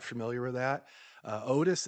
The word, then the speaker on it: Otus: Otis is the scientific name for an owl, and it's spelled OTUS, just like that.